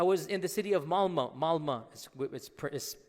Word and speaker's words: Malmö: And in Stockholm, if you have 10% Muslim, I was in the city of Malmö. Malmö is spelled with an O, but it's pronounced Malmö.